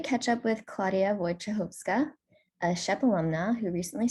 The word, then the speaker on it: Wojciechowska: lyftdc i'm excited to catch up with claudia wojcichovska a chef alumna who recently started med school